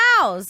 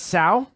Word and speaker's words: Tso's: So it's Tsao? So. So? It's Tso's.